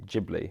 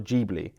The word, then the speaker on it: Ghibli: slightly different but that that sound is meant to be ghibli rather than or jeebly rather than get bloody